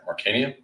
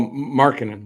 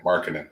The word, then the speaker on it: Markkanen: Once the guy from Utah, Mark, can I never pronounce his name right? Markanian? Oh, Markkanen, Lauri Markkanen. Markkanen, thank you.